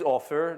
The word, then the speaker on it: Ofer: start back though so my name is offer that's the easy part oh if er used the word with a double F offer it's closer to how you pronounce that forget the last name